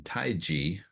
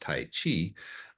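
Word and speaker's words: taiji: that is used in taii which in English unfortunately is often pronounced Tai Chi um but it has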